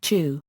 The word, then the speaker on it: Qu: Technically though, in Pinyin his name would be pronounced chu.